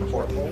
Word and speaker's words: Houghton: He pronounced it Horton. They slip an invisible R in there.